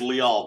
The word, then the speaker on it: Lial: It is Lial, by the way. In case you're still doing it wrong.